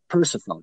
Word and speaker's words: Persefone: Is that how I pronounce it? Persephone, yeah.